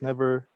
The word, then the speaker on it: NEVR: I write Nevs or never. NEVR. Pronounced as never.